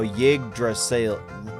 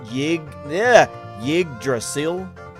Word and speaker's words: Yggdrasil: The pronunciation, oh, Yggdrasil. Yggdrasil.